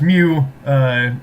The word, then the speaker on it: mu: letter mu, and yeah, so pronounce mu like a cat would say.